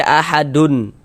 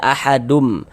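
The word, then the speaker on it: أَحَدٌ: Nah, bunyi tandwuninnya dimasukkan ke huruf mim. Jangan dibaca ahadun tapi dibaca ahadum.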